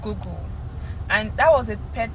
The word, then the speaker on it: Google: I used to say goggle, right? I say goggle instead of Google, and that was a pet peeve for my roomie in the university.